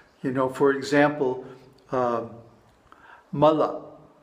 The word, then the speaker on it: mala: know for example um Mala Mala is two short padas and it means a